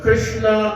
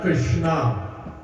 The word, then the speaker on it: Krishna: Krishna itself means Krishna, without stressing on the last syllable, the Krishna, that is Bhagwan. That is the flute player, the cowherder, Paramatma himself. And Krishna, when you stress on the Krishna, that becomes feminine.